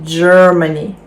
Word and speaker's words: Germany: в нас два три складові наголос на перше Germany Germany Germany добре а